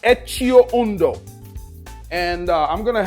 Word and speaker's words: Etxeondo: It's pronounced Etio Uno.